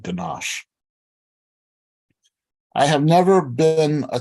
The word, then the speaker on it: ganache: then God created ganache to say the word ganache it is mandatory to stretch out the sh sound at the end of the word the phonetic pronunciation of